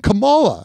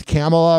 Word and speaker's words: Kamala: Listen, we say it the same way. I know it's Kamala or whatever, but I like Kamala too, but listen. Asking the question is dumber than Kamala. That's how you say it. If Trump says it, that's how it's Kamala.